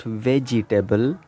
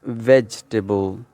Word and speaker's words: vegetable: Well, the second word is, as you can see, it is not vegetable, it is not vegetable. This, well, it's vegetable.